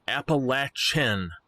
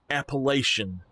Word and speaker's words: Appalachian: believe that's right but if you say it as mountains Appalachian it is not appellation oh my gosh it